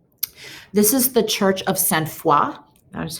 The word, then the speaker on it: Sainte-Foy: This is the Church of Sainte-Foy.